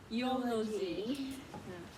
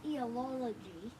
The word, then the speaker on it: eulogy: Eulogy. You get the eulogy. No, not eology. Eulogy. Eulogy.